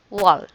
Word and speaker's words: wall: And then A here is pronounced as a letter O, right? Short O, there.